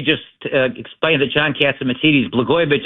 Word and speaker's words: Blagojevich: Before I do that, let me just explain to John Catsimatidis Blagojevich isn't hard to say. It rhymes with Catsimatidis.